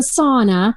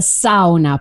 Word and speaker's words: sauna: thing in Finland called not the sauna that's not what we call it that's too cool spa for us we call it the sound up because that's how you say it in Finn and so I built